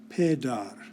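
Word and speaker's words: پدر: There's a little line under the P, there's a little line over the D, and that means that this word is pronounced pedar.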